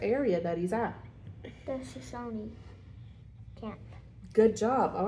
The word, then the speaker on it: Shoshone: All right, so how do you pronounce it? Shoshone.